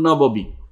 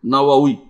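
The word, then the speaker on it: النووي: সময় দেখা যায় বলে ইমাম নববী, এটা ভুল, ইমাম নববী কেন হলো? ইমাম নবাউই, নওয়াউই, নওয়াউই, ইমাম নববী না, বা উচ্চারণ হবে নওয়াউই, ওয়াও, দুইটা ওয়াও, নওয়াউই।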